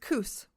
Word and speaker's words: Coos: Yeah, it's pronounced Coos.